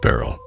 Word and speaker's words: Baryll: On my way out, a friend of mine who was a janitor, Michael Beryl, pronounced Beryl, came up to me holding a familiar book.